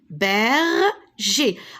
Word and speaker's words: berger: Le chien berger. Alors regardez ici, G-E-R. Et ici, G-E-R. Et pourtant, regardez comment je prononce berger. Ici, je prononce E.